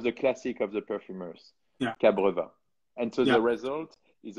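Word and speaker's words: cabreúva: And I've used some cabreva, which is a wood that comes from Brazil. Cabreva. It's spelled C-A-B-R-E-U-V-A, cabreva.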